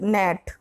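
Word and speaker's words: gnat: Question number 22, which letter is silent in the word नेट?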